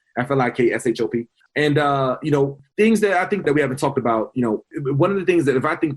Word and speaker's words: Flikshop: No C. Most people put the C in there phonetically. I get it. You're supposed to put the C, but no, it's no C. FLIKSHOP.